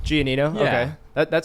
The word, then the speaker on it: Gianino: sitting here with my new friend Mr gonano did I pronounce that right gianino gianino okay that that sounds Italian are you Italian